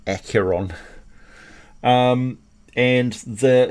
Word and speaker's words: Acheron: pronounce it acro and i always pronounce it archeron but it doesn't have an r in the front of it so it's really accuron um and the it's